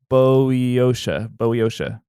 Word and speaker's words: Boeotia: Boy, do I not know how to pronounce this. Mm-mm. It is Boeotia. Boeotia.